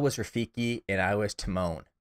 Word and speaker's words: Timon: Rafiki and I was Timon which I didn't know Timon was spelled without an e it's just t-i-m-o-n so for a while they were just calling me timing um and then after